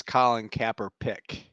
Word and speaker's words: Colin Kaepernick: You said his name wrong. It's Colin Kaepernick.